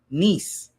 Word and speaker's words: Nice: Nice. It's spelled nice like nic, but it's called nice.